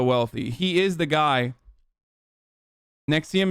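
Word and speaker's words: NXIVM: Nexium is how you pronounce it.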